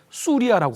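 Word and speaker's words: سوريا: 북한에서는 시리아라고 발음하지 않고 그 나라 발음 그대로 하니까 아랍어에서 수리아라고 합니다.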